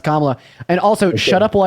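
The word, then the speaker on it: Kamala: real job yeah but your lovely camela Harris wants to give us name pronounced kamla and also shut up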